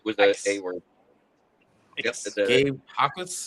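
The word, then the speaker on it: Jacas: It is not Jakas. It is Akas. I knew it was a word. Yep, Gabe Hakas. The J is silent.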